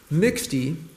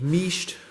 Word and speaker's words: mixte: 1985 Panasonic sport LX mixty or maybe misht or mishti if you were to use the French pronunciation in a wine red